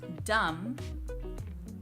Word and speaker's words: dumb: this though is that there are some words where the B does not change the vowel sound you find this in the words dumb limb and lamb again the reason that